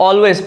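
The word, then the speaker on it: always: ये है की इस्लाम इस ऑलवेज ऑलवेज इसको ऑलवेज पढ़ना है ये उसे समझ रही है यहां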